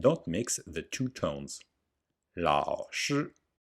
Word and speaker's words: 老师: 老师老师 You must pay great attention to the pronunciation of the tones and on the lao. If you mispronounce 老师 and say 拉屎, it means to shit.